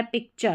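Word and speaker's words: picture: Nation यहां पर है पिक्चर। क्या है? पिक्चर। पिक्चर में देखेंगे तो यहां पर च पढ़ा जा रहा है।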